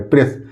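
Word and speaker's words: press: तो स लिख देंगे, ए साइलेंट है, प्रेस।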